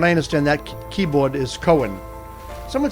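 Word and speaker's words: Coen: From what I understand, that keyboard is Koen. Someone said it's pronounced Koon.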